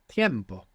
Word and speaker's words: tiempo: Now, time in Spanish is tiempo. You see the difference between tempo and tiempo, other than the Spanish pronunciation, is that the E has split into IE.